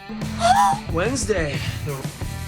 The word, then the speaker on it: Wednesday: À part ça, dans certains mots, The D is silent. comme par exemple dans Wednesday.